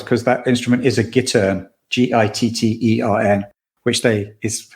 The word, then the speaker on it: gittern: I love the details, the historical details, because that instrument is a gittern, Gittern, which is how they pronounced it in the show, which I thought was great.